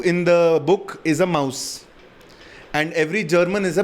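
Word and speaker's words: Maus: double digest okay called Mouse okay there's this guy spell it m us M us m a US yeah Mouse like German Mouse they they spell Mouse like that yeah the mouse the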